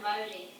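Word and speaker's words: Mauri: Yeah, Maori. Is that how you say it? How do you say it, Shelley? Yeah, you're right, Maori.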